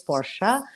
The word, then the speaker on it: Porsche: If you want to stick to the original way, it's Porsche. But Porsche is also fine. Anything else is not the right pronunciation.